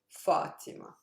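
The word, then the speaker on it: فاطمة: it's not heavy so my stress lies on the syllable preceding that one which in this case is the first syllable of the word fatima so here how i stress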